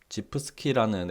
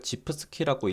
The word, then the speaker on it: gifski: 지프스키라는 앱인데, 이걸 지프스키라고 읽어야 할지 뭐 GIF 스키라고 읽어야 할지 저도 확실히 모르겠는데, 일단 저는 지프스키라고 칭하겠습니다.